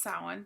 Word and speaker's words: Samhain: So, it's pronounced Samhain, but it's Halloween.